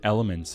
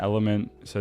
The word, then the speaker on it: LMNT: what I was able to do is get elements on if you heard about this it's spelled lmnt and this is interesting because they